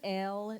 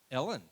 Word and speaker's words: Elle: My name is Elle Newlands. Elle. Ellen. Elle. Spell it. E-L-L-E. Ellie. Like the Elle. like the magazine.